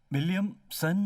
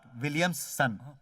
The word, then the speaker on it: विलियमसन: William सन। नॉट विलियम्स सन, विलियमसन।